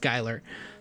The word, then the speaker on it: Schuylar: it several times but it's pronounced skyler skyler croom is the